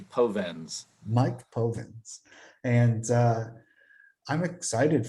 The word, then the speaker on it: Povenz: to put an R in there. They want to say Provenz, but it's actually Povenz.